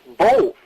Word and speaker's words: both: l in both both there's no l in it it's pronounced both that's what i'm saying both both you sound like